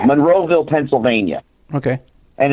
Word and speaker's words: Monroeville: it's um uh at the I gotta always pronounce the town right the moresville convention center Monroeville Monroeville Pennsylvania okay and it's got Richard dfus and